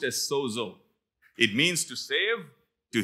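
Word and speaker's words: σῴζω: word save is from the greek word word pronounced as sozo it means to save to heal to deliver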